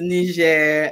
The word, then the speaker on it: Niger: in Niger welcome Antoinette hopefully I got the name of the country pronounced like how they pronounce it there and hopefully I got